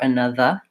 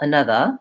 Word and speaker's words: another: together or other or another. And by the way, that's the accepted pronunciation in some dialects of English. British English, Indian English, they tend to use the schwa vowel, another, instead of another.